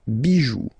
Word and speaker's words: bijoux: But still, as usual, it's not pronounced, so it doesn't really affect the pronunciation, but it's just for you if you want to write them correctly at the plural form.